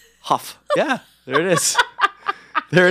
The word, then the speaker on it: Hough: It sounds like a cough. It's like. Actually, cough. It's spelled the same way. There you go. With the H. With the H. Hough.